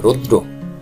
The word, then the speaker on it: রৌদ্র: এখানে দয়ের সঙ্গে রফলা যুক্ত আছে, এই জন্য একটু উচ্চারণ হবে রৌদ্র, রৌদ্র।